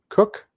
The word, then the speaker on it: Koch: just had Christina and Christina Koch cook they pronounced they pronounced it coach cook so again co CH it just depends on who you're talking to but Christina cook Astrid